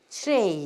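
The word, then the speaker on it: tray: 반드시 혀를 입천장에다 대고 목구멍 쪽으로 끌어가면서 이렇게 발음하는 거예요. 그래서 트레이 이렇게 돼.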